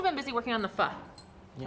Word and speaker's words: pho: But you've also been busy working on the pho. Yeah. Am I saying it right? Pho? Yeah, pho. That's perfect.